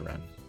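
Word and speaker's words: Renne: but oh, apparently R-E-N-N-E is a Middle English form of run or runner. Yeah, it seems like it's supposed to be pronounced ran.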